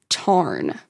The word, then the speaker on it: Tairn: Now, there's been some critique of Rebecca's use and pronunciation of the Scottish Gaelic words because Rebecca pronounces it Tairn, but in Gaelic, it's Tarn.